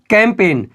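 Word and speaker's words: campaign: है कैंपेन क्या बोलेंगे कैंपेन याद रखिएगा जी हमारा बिल्कुल उच्चारण नहीं देगा अगला देखिए फॉरेन क्या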